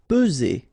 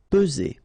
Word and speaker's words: peser: Peser. Okay, remember first p, and then z. Only one S here between the two. Peser.